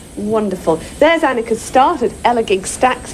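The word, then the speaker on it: Elegug: There's Annika's start at Elagig Stacks. It's pronounced gig, I'm reliably told.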